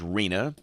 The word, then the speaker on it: Rina: hurricane season just checking to be sure I've got the pronunciation right it is Rina Felipe and Rina this is the seven